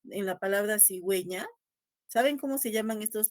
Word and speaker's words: cigüeña: No hay que pronunciar cigueña, sino cigüeña, ¿no?